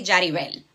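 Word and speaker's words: Yaribel: so my name is Yarabel. That's spelling it with a Y in English, right? But it's actually Jaribel, right? We Spanish people pronounce the Y as a J, right?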